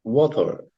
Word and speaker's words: water: Jadi bagusnya bacanya water. Jadi ada juga terdengar or-nya di belakang ya.